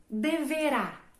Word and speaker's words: deverá: Aquela sílaba que contém o acento é a sílaba tônica.